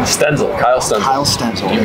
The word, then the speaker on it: Stenzel: Kyle how do you say your last name stenzel Kyle Sten kle Sten you got it Mitchell blide bleed bleed yeah it's spelled like blide so I get that a